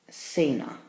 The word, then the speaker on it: cena: Kasai not Sasa casa Cena it's a soft C Sound see you that see